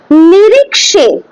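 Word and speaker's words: निरीक्षे: নিরিক্ষে, খ হয় না, নিরিক্ষে, ঠিক আছে, মানে এন আই আর আই কে এস ই, নিরিক্ষে, নিরিক্ষে, খে হবে না, নিরিক্ষে হয় না, হ্যাঁ, নিরিক্ষে, এটাই হচ্ছে কি উচ্চারণ, আসল উচ্চারণ সংস্কৃতে।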